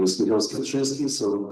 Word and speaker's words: Skwierczyński: My name is Michał Skwierczyński, so this is the difficult pronunciation of my surname, but you can call me just Michael.